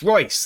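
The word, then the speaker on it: Reus: and rouse to come in and marco royce royce there it is i know i know how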